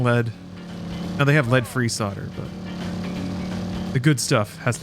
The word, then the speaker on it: solder: Talking to me about fixing old Japanese speakers and trying to solder them. No clue what he's talking about. So here's an annoying thing about electronics. Solder, it's pronounced that way. It's spelled solder. I don't know why.